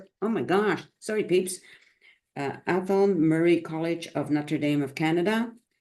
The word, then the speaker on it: Athol Murray College: Athol, and Athol oh my gosh, sorry peeps, Athol Murray College of Notre Dame of Canada. Okay, you're back. I'm just mispronouncing some words while you were gone.